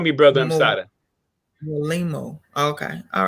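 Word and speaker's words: Mwalimu: It's pronounced Mwalaimu.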